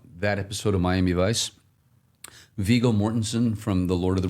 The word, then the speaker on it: Viggo Mortensen: I can never pronounce his name. Viggo Mortensen.